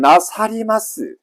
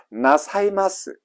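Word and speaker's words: なさいます: 자, 연용해 보시면 나사리마스 쓰느냐? 쓰지를 않습니다. 리가 날아가고 이로 바뀝니다. 나사이마스 하십니다.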